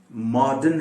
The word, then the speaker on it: modern: एक वर्ड है और जो गलत तौर पर प्रोनाउंस किया जाता है हिंदुस्तान में, MODERN, मॉडर्न है ये, मॉडर्न। मॉडर्न नहीं, बिल्कुल गलत है। मॉडर्न कोई नहीं कहता, सिवाय हम लोगों के, यहाँ जो रहते हैं इस खित्ते में, सिवाय हम